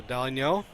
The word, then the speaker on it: Dalinho: NH is pronounced NY. So Dalinho.